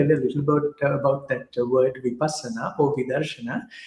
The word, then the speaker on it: Vipassana: So, Barbara, you pronounce it for me, please. Vipassana? Oh, Vipassana. Yeah. Okay, Vipassana.